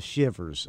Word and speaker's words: Shivvers: So anyway, all right, and it's pronounced, it's spelled with two V's, like, instead, you know, not like you're shivering, right. You know what a shiv is, right? Yeah, exactly. Yeah, that's what they are, the Shivers.